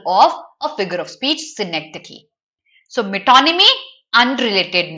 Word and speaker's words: synecdoche: Whereas synecdoche, you pronounce it as synecdoche, okay?